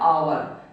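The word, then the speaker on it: hour: नहीं पढ़ा जाता है एच को एच होता है साइलेंट है एच क्या होता है साइलेंट होता है लेकिन पढ़ा क्या जाता है आवर तो आवर पढ़ा जाता है इसलिए यहां पे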